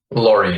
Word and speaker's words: Lawrie: it Laurie or Lowry Lori like a truck ah I see a